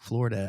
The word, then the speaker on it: Florida: That's it's like people I think a lot of people say Florida, and I'm like, it is not an A, it's an O, Florida.